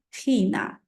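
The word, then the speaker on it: China: закінчення єн билієн пон не забуваємо це х комбінація читається як х тому Чилі буде хіле хіле і так само Китай хіна хна япан япан Японія ін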